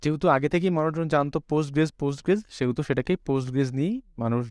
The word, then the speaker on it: PostgreSQL: Post SQL normally আমরা উচ্চারণ করি পোস্টগ্রেস এভাবেই আমরা উচ্চারণটা করি। ওকে, পোস্টগ্রেস, বাট এখানে কিউএলটা সাইলেন্ট অবস্থা থাকে।